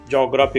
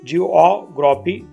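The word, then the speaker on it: geography: Next words आहे जिओग्राफी, पण आपण याचा नेहमी उच्चार जॉग्राफी करतो. तर जॉग्राफी असं उच्चार न होता जिओग्राफी असं होईल, जिओग्राफी.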